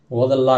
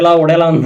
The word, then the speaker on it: Odela: அது வரைக்குமே ஒடேலான்னு தான் நான் அது ப்ரொனவுன்ஸ் பண்ணிட்டே இருந்தேன் நான். அதுக்கப்புறம் தான் தெரிஞ்சு அது ஓதலா அப்படின்னு சொல்லி.